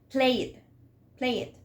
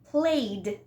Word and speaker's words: played: we are learning English, what we do is that we want to pronounce the E. For example, play it, mop it.